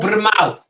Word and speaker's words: Brynmawr: Brynmawr. Brynmawr. It says Brynmawr, but it's pronounced as Brynmawr.